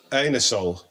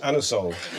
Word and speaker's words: Anusol: You can't ask for anusol in that way in a shop. You have to pronounce it anusol.